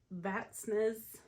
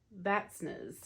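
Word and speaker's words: Vatnsnes: I believe this is pronounced Vatsnes. The N in the middle is silent. I did ask the lady at the counter how you pronounce it, and she said that N is silent.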